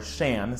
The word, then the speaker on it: Xian: up a name and they named her Xian, or Shan, spelled X-I-A-N, but apparently this isn't a real name, and not even really pronounceable with those letters in that language.